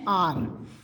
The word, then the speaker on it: hour: Racist will start in एन आर. ये HOUR है, बट इसका प्रोनाउंसिएशन आ से होता है, इसलिए इसके आगे AN लगा हुआ है, आर.